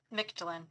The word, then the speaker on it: Mictlan: Mictlan.